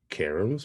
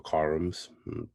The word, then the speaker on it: CAARMS: the mathematical sciences uh the acronym is c-a-a-r-m-s karims or karums depends on how you want to pronounce it and uh this organization